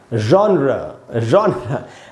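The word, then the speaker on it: genre: तो दोस्तों इसको जॉनर नहीं बोल के क्या बोलना चाहिए, यहाँ लिखा है मैंने, इसको पढ़ेंगे दोस्तों, जॉनर। अब थोड़ा सा अजीब है उच्चारण, लेकिन मैं आपको टेक्निक बता देता हूँ।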